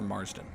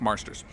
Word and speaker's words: Marsters: you say his name it's either marsters or marsden i think marsters james marsters just nailed the